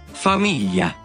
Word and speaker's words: famiglia: La pronunciación de la GL en italiano corresponde a la doble L en español en las palabras Pollo. y, Famiglia.